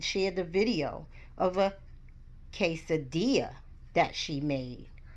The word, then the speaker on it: quesadilla: Miss Hempstead shared the video of a quesadilla that she made. For this word, the QU sound sounds like a K.